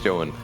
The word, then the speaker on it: Zoun: Like, okay, we know how we pronounce his name, right? It's Zoun.